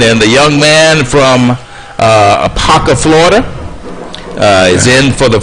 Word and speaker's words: Apopka: That's Apopka, Florida.